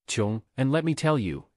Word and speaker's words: 睘: walk " And the right side that's 睘 (pronounced "jiong"), and let me tell you it's not a